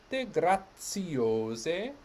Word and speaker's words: grazie: and then depart violet grazie remember that the ts sound of grazie and i happen to